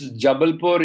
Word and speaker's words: Jabalpur: How do you pronounce that place? Can you be there? So it's Jabalpur, India.